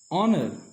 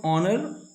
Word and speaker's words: honor: Example, an honor, an MLA, an SDM, an honest man. The H at the beginning of honor and honest is silent.